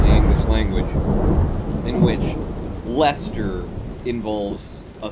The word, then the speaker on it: Leicester: It's Leicester is what it is, and you guys need to start pronouncing it correctly.